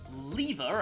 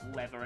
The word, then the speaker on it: lever: A lever, as it's actually pronounced in my English, but it's lever in American English, and I know that because of, unit can act after warping.